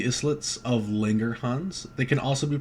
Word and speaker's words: Langerhans: an island right so this is pronounced as the islits of linger hans they can also be